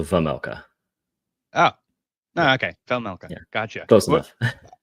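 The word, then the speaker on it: Vejmelka: So I think you want to just pretend the J is an H, so Vamelka. Oh, Yeah, no, okay, Velmelka.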